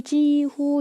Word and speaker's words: 几乎: 특히 이 찌의 발음이 일성이라는 거예요. 그래서 거의 지후 이렇게 일성 읽어줍니다.